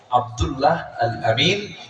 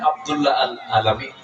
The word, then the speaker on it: আব্দুল্লাহ আল আমিন: নাই আব্দুল্লাহ আল আমিন আমার নামটা বলতেন আব্দুল্লাহ আল আলামিন আব্দুল্লাহ আলামিন এানে ভুল হয়ে যায় এই উচ্চারণটা খুব কঠিন আপনার এটাও ভুল হয়ে